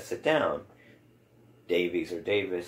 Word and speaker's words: Davies: that that was pronounced Davis not not to nitpick on the pronunciation but I heard that it was pronounced Davis but it's spelled Davies and I do hear